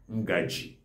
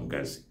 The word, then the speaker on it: ngaji: Ngaji is the central Igbo. That is the Igbo Izube, the generally accepted Igbo word. Okay. Then ngazi is just another name based on different dialects you find in Igbo land.